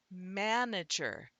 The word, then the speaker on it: manager: Do you hear in manager? We actually have that jaw drop, and so the man, the syllable M-A-N, that syllable, the A is a true schwa or a true vowel sound, manager, and the N is not syllabic.